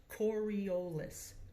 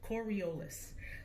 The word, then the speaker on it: Coriolis: called the Coriolis effect try saying that Coriolis Coriolis that's how it's pronounced Coriolis effect and it